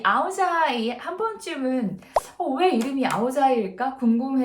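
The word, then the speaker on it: áo dài: 이야기를 나눠 볼까 하는데요 우리는 아오자이 라고 하자 그쵸 베트남 어른은 아우디 아이 또는 아우야 이라고 해요 제 북쪽 빨리 왠지 아이라고 바램을 하고 남쪽은 양 이라고 발음을 해서 9살 아이 또는 아우디 아이 라고 합니다 2 아 아이들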